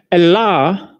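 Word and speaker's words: الله: Allah, ya, Allah is the way the word HHLA spelled from right to left as it is Aramaic is pronounced.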